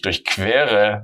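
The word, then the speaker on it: durchqueren: How do you stress them? For example, here it's also ich durchquere den Tunnel, but here it's durchschneiden. Obviously, I exaggerated it a little bit, but if the stress is on the prefix, it's separable. If the stress is here, it's not separable.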